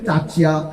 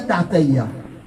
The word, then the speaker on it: Tataya: On appelle Tatia, on appelle Titia, Totia, Tutia. Non, il mal prononcé, il mal écrit. Nous pas grand du monde, l'état civil, l'état outinaire. On bien dit à Tataya.